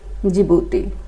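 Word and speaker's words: Djibouti: यह जिबूती है। डी से स्टार्ट होगा। यह रखना। ठीक है। जिबूती डी साइलेंट है।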